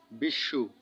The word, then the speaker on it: বিশ্ব: শব্দের মধ্যে বা শেষে ব ফলা থাকলে সংযুক্ত বর্ণের দ্বিত্ত উচ্চারণ হয়। যেমন বিশ্ব এখানে রুলে কি বলা হয়েছে?